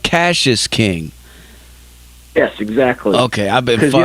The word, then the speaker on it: Cassius King: zach you know oh so it's so it's pronounced cassius king yes exactly okay i've been you know you